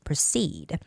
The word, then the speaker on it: proceed: And as we proceed, the stress goes on EE, proceed.